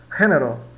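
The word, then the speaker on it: género: Então a gente diz, se escreve gênero, né? Mas nós pronunciamos gênero, gênero, né? Significa gênero.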